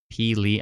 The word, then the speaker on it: Pelee: Is that how you pronounce it? Is that how you write it? Pelee Island? Pelee Island.